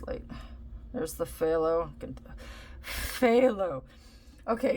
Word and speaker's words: phthalo: the phthalo pho okay if you see it it's it's spelled PHT Alo something like that it's it's with a f the pH is like a f sound like as in farm that should help you